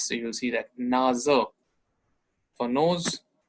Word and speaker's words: Nase: N is Nase. Nase is for nose. N-O-S-E. In English, here it's Nase. So S pronunciation is Z. And Z pronunciation is S. So you'll see that Nase for nose.